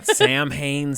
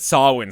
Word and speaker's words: Samhain: here that's right yeah Sam Haynes scares that he said saw one scares my mistake I just phonetically pronounced it um is there a